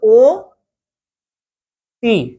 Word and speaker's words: অতি: যেমন অতি শব্দের উচ্চারণ হবে কি? অতি শব্দের উচ্চারণ হচ্ছে ও তি।